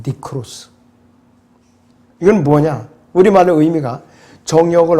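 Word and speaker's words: νεκρός: 그래서 이 죽이라는 mortify라는 일반적인 의미는요, 헬라어에서는 네크로스라고 발음하거든요. 네크로스.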